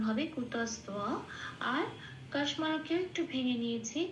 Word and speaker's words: কুতস্ত্বা: ওখানে বটাকে ও প্লাস অ হিসেবে সংস্কৃততে উচ্চারণ করে, সেই জন্য তোয়া।